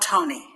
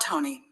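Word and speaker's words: Tone: The new baby, Anton, was called Tony, possibly because there was already an Anton in the house, his grandfather. It is spelled T-O-N-E in Slovenian, but pronounced pretty much the same as in English.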